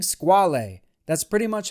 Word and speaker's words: Squale: calling squalid that's not cool no I said squal actually it's pronounced squal which is the French word for shark in Italian the word for shark is actually squalo n man it's squale it's a squal woohoo no it is squal